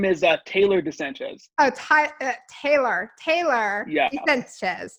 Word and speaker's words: Sanchez: that my full name is uh taylor de sanchez oh ty taylor taylor yeah de sanchez taylor